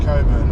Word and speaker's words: Cockburn: I'm not sure, we're not all that far out of Coburn, or it's spelt Cockburn. I'm pretty sure it's pronounced Coburn.